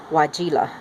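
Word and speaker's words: Weigela: is called red wine why geela I had to look that one to find out how to pronounce it even though it is EE IgE Ola you pronounce it red wine white ela and there's the reverse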